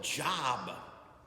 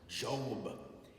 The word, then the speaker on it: Job: i said a reading from the book of job and he said it's pronounced job and so that was mortified by my first